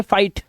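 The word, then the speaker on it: fight: और जीएस टी में GH silent होगा। सिर्फ टी को पढ़ा जाएगा। अब यहां पर देखो एग्जांपल्स हैं आपके सामने। ये देखो आई के बाद जीएस टी। तो जीएस साइलेंट है तो ये पढ़ेंगे फाइट, लाइट, राइट, नाइट, माइट और टाइट।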